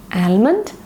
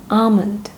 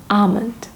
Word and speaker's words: almond: Is it almond? Wrong. It is almond. L sound is silent over there. Correct pronunciation is almond. Please repeat with me. Almond.